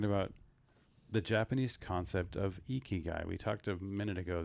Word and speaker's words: ikigai: know we're talking about the japanese concept of ikigai we talked a minute ago that you had